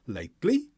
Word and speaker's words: lately: Now, normally the word lately has the stress on the first syllable, but because it's a question, the intonation on the final word changes. And now the emphasis is on the second syllable, lately.